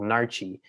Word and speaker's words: Naartjie: It was called Narchi, and Narchi is like it's like a mandarin orange.